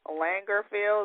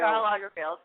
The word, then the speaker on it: Lagerfeld: had some harsh things to say about Karl Lagerfeld. Is that how you pronounce his name? Lagerfeld. Karl Lagerfeld.